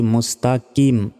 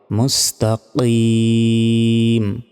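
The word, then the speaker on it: مستقيم: সিরাতল মুস্তাকিম অনেকে বলি মুস্তা তাকিম কিম নয়। এখানে কফ রয়েছে। কাফ থাকলে কিম হতো। কিন্তু কফ থাকার কারণে উচ্চারণটা হবে মুস্তাকিম।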